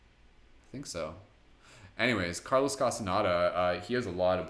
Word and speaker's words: Castaneda: welcome so Carlos Castaneda Carlos Castaneda CAS T aan e da so write that down for those of you who need that again cas ta n e da carlos castaneda it's spelled how it sounds so even if you